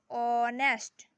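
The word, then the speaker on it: honest: ऑनेस्ट एच है लेकिन इसको ऑनेस्ट तो नहीं ना पढ़ते हैं। इसको क्या पढ़ते हैं? ऑनेस्ट। ओ से स्टार्ट होता है। ठीक? एच जो है वो साइलेंट रहेगा।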